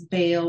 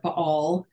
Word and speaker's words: Baal: And there are a couple of different ways that we can pronounce Baal or Baal. Either one, I think, is acceptable.